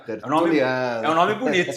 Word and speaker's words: Tertuliano: Hoje eu tenho um convidado super especial, amigo íntimo, parceiro de negócios, o doutor Alexandre Tertuliano. Pronunciei corretamente, doutor? Corretamente, Olha, Tertuliano. é um nome bonito, né? Tertuliano.